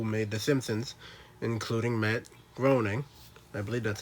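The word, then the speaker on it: Groening: same people who made the simpsons including matt groaning i believe that's how you say his name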